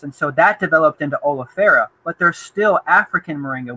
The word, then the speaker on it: oleifera: I mean, like, so I'm assuming that how do you pronounce it again? The one that you grow? Oleifera.